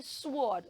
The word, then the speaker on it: sword: do not say sword it has a silent W so we will not say the W sound we will only say